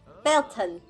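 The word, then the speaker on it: Beltane: This is Belton. Is that how you say it? Belton, yeah.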